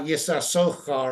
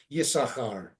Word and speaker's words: Yisachar: We don't pronounce the Yisachar, the guy. His name is listed with 2 sins, but his name is pronounced with 1 sin. Okay. So therefore, they don't put a shva or anything. It's not Yisasochar or anything like that. It's just Yisachar.